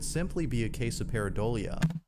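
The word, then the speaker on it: pareidolia: say it could simply be a case of peridolia peridolia that's how you pronounce that word I was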